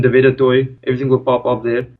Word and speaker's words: Du Toit: just you know type in YouTube my name d toy everything will pop up there now for our younger listeners let me spell that out because uh it's not a name